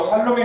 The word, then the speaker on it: 샬롬: 샬롬, 제 귀에는 더 샬롬에 가깝게 들리긴 하는데요.